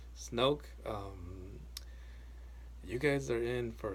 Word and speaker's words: Snoke: Oh, Snook. I'm sorry, Snoke. I can never say his name right. Snoke.